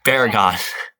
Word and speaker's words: Baragon: Please pronounce these. And It's Baragon.